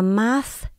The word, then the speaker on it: math: Viết tận cùng là chữ T với H, các bạn đọc là math. Để lưỡi giữa hai răng, sau khi mình đọc chữ ma, để lưỡi giữa hai răng mình thổi hơi ra.